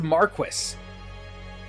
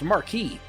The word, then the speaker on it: marquis: Who says Marquis? I'm pretty sure that's pronounced marquee. He doesn't.